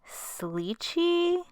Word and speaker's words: Slicci: I think it's Slicci, almost like slicey.